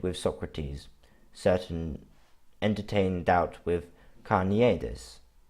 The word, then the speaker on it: Carneades: We can debate with Socrates, entertain doubt with Carneades. I think it's actually pronounced Carneades.